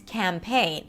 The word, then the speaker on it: campaign: It's not campaign, it's campaign. Now, you know how to